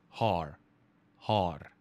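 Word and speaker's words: haar: without the d ladies imagine saying hard with but without the d so har har right that is basically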